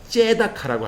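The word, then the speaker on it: צדקה: 여러분, 이 공의는 히브리어로 뭐라면 체다카. 그런데 제가 유대인들한테 들어보니까 이걸 뭐라고 읽냐면 째다카라고 합니다. 째다카.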